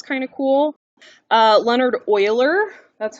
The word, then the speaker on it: Euler: dubbed the euler line so not euler don't say euler then you sound like a silly american who can't pronounce things correctly it's euler all right next page the